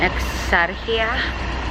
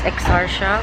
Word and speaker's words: Exarchia: at, it is in Exarchia. It's Exarchia when you like talk in English. When you like pronounce it in English, it's Exarchia. But when you pronounce it in Greece, in Greek, it's Exarchia.